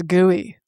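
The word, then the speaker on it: GUI: And I want to pronounce this gooey like like the interface the interface that we all see.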